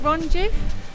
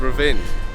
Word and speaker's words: Rovinj: Is it Ronjiv? It's not. Rojiv and... It's not. I'm really struggling with the fact that there is no vowels. There's lots of vowels. It's Ravin. Ravin.